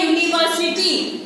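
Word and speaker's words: university: यूनिवर्सिटी। यूनिवर्सिटी है, यू से start हुआ बट उसका प्रोनाउंसिएशन YOU आएगा।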